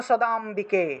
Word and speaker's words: সদাম্বিকে: কৃষ্ণেনা সংস্তুতে দেবী, কৃষ্ণেনা সংস্তুতে দেবী, দেবী শাশ্বত, শাশ্বত ভক্তিয়া সদাম্বিকে, সদাম্বিকে, ঠিক আছে, ময় বয় আছে, নিচে সামনে আকার আছে, সেজন্য সদাম্বিকে, সদাম্বিকে উচ্চারণ হবে।